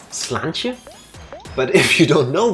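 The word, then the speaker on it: Sláinte: you go back no I think it's pronounced slantia but if you don't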